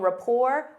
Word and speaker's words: rapport: Notice that T is silent. They have a strong rapport or strong relationship.